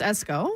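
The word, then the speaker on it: Esko: pronounced Esco.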